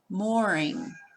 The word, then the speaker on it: mooring: Here's one. Mooring. It has the oo sound.